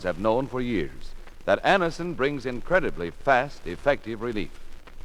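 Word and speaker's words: Anacin: dentist thousands of people have been introduced to anderson this way try anderson yourself the next time you suffer from the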